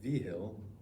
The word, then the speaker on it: Vigil: Vigil, whose name is pronounced Vigil, is off on a training exercise for a couple of weeks.